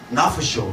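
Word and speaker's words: נַפְשׁוֹ: 발음이 뭘 바뀌었어요? 나프쇼. 이렇게 저건 뭐냐면 그의 혼이라는 뜻이에요.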